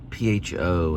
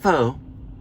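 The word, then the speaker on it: phở: it's pronounced one um pho in vietnamese is pronounced not faux not foo but i learned that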